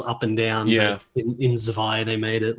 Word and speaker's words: Zwei: Is that how it's pronounced, Zwei?